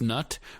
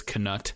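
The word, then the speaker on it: Knut: So, she tells us that she agrees it it should be pronounced nut, but in the audio book he vocalizes it just to make it clear that there's a K on there if you're just listening to it.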